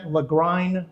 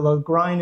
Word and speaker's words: Lagrein: which, while not on the label, is 100% Lagrein grape. And if I accomplish one thing in this videotaping, it's actually pronouncing that name Lagrein, which is unusual, but